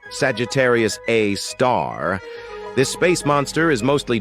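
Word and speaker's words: Sagittarius A*: we've got Sagittarius A which is pronounced Sagittarius A star this space monster is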